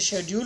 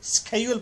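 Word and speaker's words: schedule: इसको स्केड्यूल भी पढ़ सकते हैं, इसे शेड्यूल भी पढ़ सकते हैं, दोनों तरह से। इंग्लैंड में इसे अभी भी शेड्यूल पढ़ा जाता है, अमेरिकन इंग्लिश में इसे स्केड्यूल पढ़ा जाता है।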